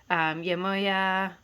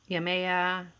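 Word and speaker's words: Yemaya: And yeah, the ones I connect most with, Yamoya, Yamea, different pronunciations, of course, and Inanna, and those are both there.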